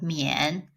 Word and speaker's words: mian: It's with the yen, and then the m, so mian.